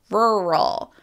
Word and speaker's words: rural: Because in American English, we have that very American R. So the word has two of them, rural.